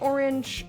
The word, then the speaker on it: orange: at all it's fine i say orange as if it rhymes with syringe but with a different inflection orange whipped egg yolk